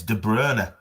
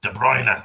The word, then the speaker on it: De Bruyne: she says it's Mumm but all the commentators pronounce it manum. And yeah it's like Kevin De Brryer isn't it? It's De Brer and he calls himself De Brer. It's And but every commentator De Bruyne.